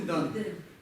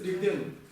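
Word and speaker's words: རིགས་ལྡན: Почему Дэн? Почему не Дан? Потому что нас смягчает. Получается Рик-Ден.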